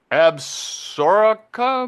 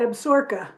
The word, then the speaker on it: Absaroka: A beautiful ranch nestled in Paradise Valley in the Absaroka Mountains. Yeah, it looks like Absaroka, but they say it Absorka. That's how Absaroka, they okay. pronounce it. Absorka Yeah, Mountains.